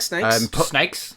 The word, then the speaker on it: Snayx: I like Snakes. Snakes. Well, it's spelled SNAYX. And it's really upsetting because when I first saw it, I thought it was SNAXX, and their band was just called Snacks. And I was like, Snacks is an excellent name.